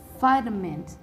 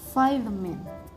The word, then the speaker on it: vitamin: The stress is located on the first syllable and the meaning of this word is selalu. The fifth word is vitamin. The phonetic sound is vitamin.